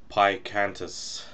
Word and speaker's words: Pikantus: reviews this afternoon I will be reviewing erdinger pie cantus I believe that's how you pronounce it so it's from the odinga brewery